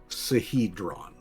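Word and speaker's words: Sihedron: It it it's spelled it's spelled s i h e d r o n sahedron.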